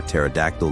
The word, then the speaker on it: pterodactyl: don't you hear a pterodactyl going to the bathroom because their p is silent the video in question